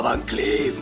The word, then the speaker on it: Van Cleef: Vancliff se llama Vancliff. Eso es Lee Vancliff.